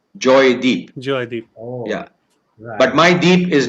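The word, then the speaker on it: Joydip: my birth name is joy dip oh oh really yeah because that's how the punjabis pronounce it okay but the bengali pronunciation is actually joy deep yeah but my deep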